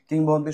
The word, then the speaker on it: কিংবদন্তি: কি অর্থ হবে জনশ্রুতি কিংবদন্তি শব্দের সন্ধি বেশি হচ্ছে কিং যোগ বদন্তি ব্যঞ্জন সন্ধি কিংবদন্তির ইংরেজি পরিভাষা হচ্ছে লেজেন্ড কিংবদন্তির উচ্চারণ হচ্ছে কিংবদন্তী এবং কিংবদন্তি তৎসম শব্দ